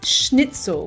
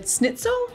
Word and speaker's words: Schnitzel: schnitzel schnitzel schnitzel it's schnitzel with an esh with a shh like in sherry what do i say